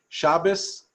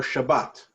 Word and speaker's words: Shabbat: and then you could the pronunciation is the Ashkenazic one or there is really one basically whether you say Shabbos or Shabbat okay so let's pick